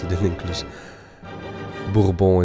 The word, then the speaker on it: Bourbon: Bourbon is the way you say it in French.